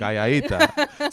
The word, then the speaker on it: calladita: That's why when you say calladita, it's like you want to say like it's not like calladita. It's not calladita. Calladita. It's calladita.